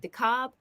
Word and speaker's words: DeKalb: DeKalb.